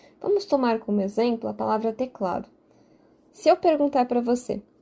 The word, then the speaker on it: teclado: sim teclado é teclado então de fato o cla é a sílaba tônica a sílaba que eu